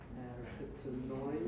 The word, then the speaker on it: arytenoid: Their position can be adjusted by the movements of the arytenoid. You're doing fine. Arytenoid. Stress is on the second syllable.